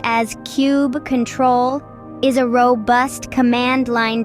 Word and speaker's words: kubectl: on Mini Cuba let's dive into kubectl kubectl pronounced as cube control is a robust command line tool that manages